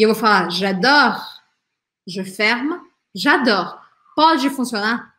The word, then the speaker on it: j'adore: perceba também é que esta letra E, apesar dela ser a terminação e tal, ela não é pronunciada em francês, porque quando uma palavra termina com E em francês, mas não tem acento, não tem nada depois desse E, eu não falo esse E.